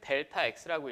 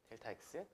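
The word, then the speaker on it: Δx: 앞에 삼각형 귀엽게 써 주시고 이렇게 읽기로는 델타 x라고 읽어내시면 됩니다. 오케이. 델타 x.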